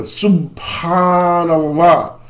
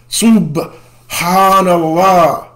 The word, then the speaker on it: Subhan Allah: they'll say Subhan Allah they put a p in there you know and there are no P's in Arabic none at all so the best way I can give you an example how to pronounce it is remember that vehicle the Subaru so suban Allah suban Allah